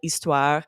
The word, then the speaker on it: histoire: French, hôtel, histoire, but then in English, we pronounce that H.